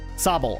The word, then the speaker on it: Sobble: Sobble.